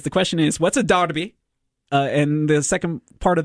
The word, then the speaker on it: Derby: It's spelled Derby, D-R-B-Y. D-E-R-B-Y, right? There it is. But it's pronounced Derby.